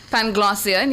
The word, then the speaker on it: Panglossian: Your word of the day is spelled P-A-N-G-L-O-S-S-I-A-N, spelled P-A-N-G-L-O-S-S-I-A-N.